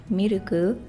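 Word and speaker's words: ミルク: I know that in Japanese, it's gyunyu, the word for milk. But if I were to say it like the English version, it's like Miruku.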